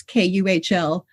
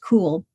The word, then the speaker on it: Kuhl: So I guess that was really the beginning of our home school was our last name is Kuhl but pronounced cool.